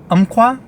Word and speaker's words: Umpqua: However, Umpqua, I think is how you pronounce it, U-M-P-Q-U-A, crazy name.